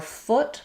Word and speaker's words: foot: So for foot, put your foot um good foot. Um you can use words like should um and push to help you get that uh vowel.